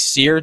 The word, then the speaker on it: Cyr: Blake Sear, did I say that right? CYR. Got it. Yeah, I got it right there.